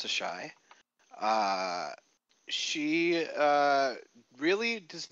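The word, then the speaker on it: Asshai: that for whatever reason is not pronounced ass high uh but as instead pronounced the shy uh she uh really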